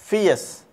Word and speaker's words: fierce: You should keep this pronunciation in your minds. The word is फियस, FIERCE।